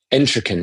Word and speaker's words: Entrekin: Her name's Rachel Entrekin, I think is how you pronounce her last name. Let me get that right. Yeah. But she's incredible. Entrekin, yeah, because I was just reading about her.